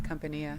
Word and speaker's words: Kumpania: Katina, and you're here with KUMPANIA, is that how you say it? Yes, Compania.